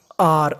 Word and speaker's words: are: का मतलब प्रश्न आर आर आर का मतलब है यहां पर ई है हमें ई का उच्चारण नहीं करना अब देखिए जो आगे